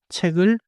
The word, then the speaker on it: 책을: 책을 is not choppy. It connects.